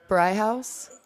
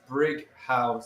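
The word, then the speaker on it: Brighouse: Well, no, see, But it's Brig. Brighton, I understand, but yeah, it's Brig House. Is there an H? Oh, Yeah. It's the H Right. in house. Oh, Fred.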